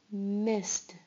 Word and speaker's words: missed: Missed. Missed. Missed. You hear the t sound at the end. Started. Started. Started. You hear the id at the end.